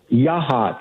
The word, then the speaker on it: Yachats: Yachats. Okay, Yachats.